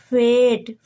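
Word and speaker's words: fate: ई का उच्चारण नहीं होगा तो इसको फेट पढ़ा जाएगा।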